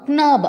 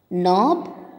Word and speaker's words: knob: letter வந்து silent okay children க்னோ க்னாக் க்னாப் அப்படின்னு சொல்லக்கூடாது இதை ப்ரொனவுன்ஸ் பண்ணுறது தப்பு அப்படி ஸோ இந்த வேர்ட்ஸில் இருக்கிற கே வந்து சைலண்ட் லெட்டர் இப்போ சொல்லாமா நோ knock knob knife knot knee knit knee இப்படி தான் இதை ப்ரொனவுன்ஸ் பண்ணும் ஓகேவா இப்போ கே மட்டும் கிடையாது